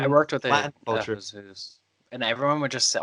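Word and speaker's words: Jesús: Jesus, but I remember I knew to pronounce it as Jesus, not Jesus.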